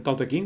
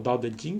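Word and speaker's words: 道德經: una Supongo bastante mala el ta King o t jin como se pronunciará más aproximadamente quizás en con la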